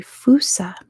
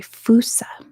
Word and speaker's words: fossa: A fossa is an animal, by the way, so it's not humans. How do you spell that? It is Fossa. It's Malagasy, so it's pronounced way different from how it's spelled.